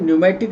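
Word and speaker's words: pneumatic: पी न्यूमेटिक bone, P silent है, न्यूमेटिक इसको बोलते हैं।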